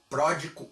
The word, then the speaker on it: Pródico: em grego pois bem essa é uma das formas possíveis de dizer o nome embora o melhor seja dizê-lo pródico ou pródigos de queos já que se trata